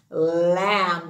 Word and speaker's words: lamb: earth oh gold mmm lamb the b is silent with the m two sounds biggest lee